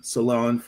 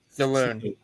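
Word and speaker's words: Salaün: Where she plays for the Salon, she plays for the Golden State Valkyries, and the Sanaya Rivers. So Saloon.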